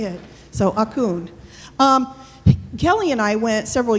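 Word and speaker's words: អរគុណ: So, Akun.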